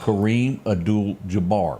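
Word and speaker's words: Kareem Abdul-Jabbar: was one the next was this guy named Kareem adul Jabar did I pronounce that correct you got it ding ding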